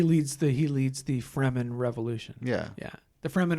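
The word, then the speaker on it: Fremen: the he leads the freman revolution yeah yeah the fman are the desert people yes the free men yes which is how I pronounced it until I watched a film adaptation of it yes yes um that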